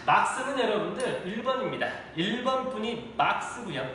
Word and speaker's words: 막스: 여러분들 누가 막스일까요? 마르크스 뭐가 맞을까요? 예, 막스가 맞겠죠. 마르크스라는 건 일본 사람들이 막스 발음이 안 되니까 일본식 영어 발음으로서 마르크스라고 했던 거고요. 우리는 R 발음이 되니까 막스라고 하는 게 맞겠죠.